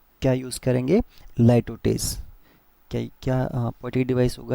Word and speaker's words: litotes: Okay, बाकी नॉट वन is dissatisfied, मैंने इसमें बताया था कि यहाँ पे क्या यूज़ करेंगे, लाइटोटेस।